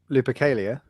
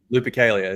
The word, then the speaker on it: Lupercalia: for how do you say that upgrade name lipicalia lupercalia that's it so the um the planned upgrades